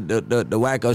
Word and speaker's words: Wack100: I'm Wacko, not Wack.